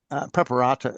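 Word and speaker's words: Preparata: As as we studied, so uh Preperata I think is the name of the main Preperata is the correct pronunciation I was told really.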